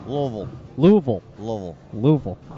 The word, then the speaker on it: Louisville: that again Jeff it's Louisville Louisville Louisville Louisville Louisville all right you can actually say it without moving your mouth okay oval wow mcaden